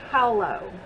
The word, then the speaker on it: Halla: over top apparently it's swedish and you're supposed to say it hello i think that's correct if not someone can correct me but i believe that's the way that i looked up the um pronunciation of this company so i tried to